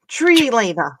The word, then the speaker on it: Trilaina: That's Trelena is one of the easiest ways to remember how to pronounce it. It may not be accurate, but it's good enough for a mid-grade summoning. Anyway. And there's me, Trelena. She likes to drive down the tree lane.